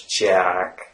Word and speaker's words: jack: The sound A is created by drawing your jaw a little bit backwards, right? So it's jack.